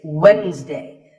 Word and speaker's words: Wednesday: It's Wednesday. The D is silent.